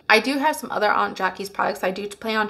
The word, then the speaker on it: Aunt Jackie's: or Aunt Jackies sorry somebody told me to pronounce it Aunt Jackies and they have a